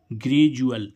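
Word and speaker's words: gradual: अब देखो यहाँ पर भी डी यू एल का क्या उच्चारण हो रहा है? जुअल। देखो यहाँ पर हमने देखा था ना, तो डी का उच्चारण क्या निकल रहा है?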